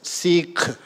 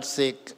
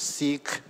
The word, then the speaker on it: Sikh: even uh Richard asked me how do you pronounce It's seik s i k h it's not seik it's seik uh so the interesting thing is that uh